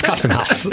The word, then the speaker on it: CSTM Haus: hard time pronouncing it because it's CSTM Haus, and they're like, what is that? System Houses? But it's Custom House.